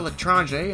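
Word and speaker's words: L'Etranger: Unless you pair it with the L'Etrange, and that is the correct pronunciation, your cloak drains 50% faster than the stock Invis Watch by default.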